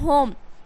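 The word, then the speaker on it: home: पे देखिए क्या है होम तो एच से हो गया ह ओ से हो गया ओ तो हो एम से हो गया म ई जो है गा साइलेंट है तो होम मींस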